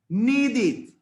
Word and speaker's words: needed: Si yo quiero decir ese verbo en pasado, no voy a decir needed. No, va a sonar como si fuera una id. Es decir, needed. Needed.